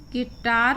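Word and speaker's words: guitar: जी के बाद जब भी आप आएं और यू के बाद कोई और स्वर या स्वर वहां। अन्य कोई भी स्वर अगर वहाँ होता। तब यू के बाद जी मौन या यह शांत हो जाता है।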